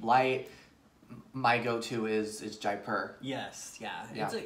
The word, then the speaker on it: Jaipur: i say it right jay jaipur not jay park and i visited that